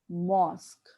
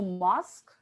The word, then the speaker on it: mosque: mosque as something else that correct pronunciation is mosque point to be noted mosque okay please look at my lips mosque the correct pronunciation mosque okay there is so and so musk okay there is there